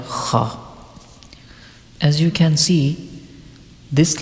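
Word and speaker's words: خ: And now the Mkhraj of letter Kha. Kha is pronounced from the top of the throat, which is nearest to the mouth.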